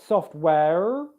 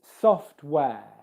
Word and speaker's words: software: Okay, there's no R sound, r, being pronounced in this word. It's not software. Okay, it's software.